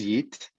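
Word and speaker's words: Yiğit: everybody my name is yit you can see my name but g is silence how it's pronounced i'm originally turkish i'm right now in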